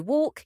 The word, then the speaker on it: walk: before ik a m or D examples o walk Yami oal hardi o half NIS if the